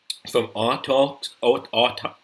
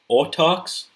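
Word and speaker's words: Autarch: come from the Psychers, from Artarks, I can't say it right there. Autarks, there we go, with the reroll ones, which could be pretty good.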